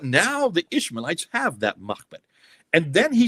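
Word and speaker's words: Mahmet: It's Mahmed, M-A-H-M-E-T. It's Mahmed. He even pronounces it. It's not Muhammad. There's no Muhammad there.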